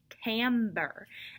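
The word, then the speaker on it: timbre: it but it is it looks like it says timber but it is timber and timbra talks about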